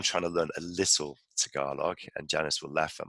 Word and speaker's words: Tagalog: So my Norfolk accent saying Tagalog, is that how you pronounce it? Tagalog, yeah.